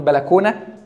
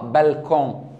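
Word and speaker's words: balcon: بلكونه مش احنا بنقول بلكونه ده اصلها فرنس طب هي بتتنطق ازاي بتتنطق بالكون هي بتتنطق كده بس احنا بق بلكونه نفس الكلام الباتيه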